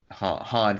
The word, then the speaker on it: Han: oh and solo guitar starts calling him hand and Han correct and say no it's Han and then they flip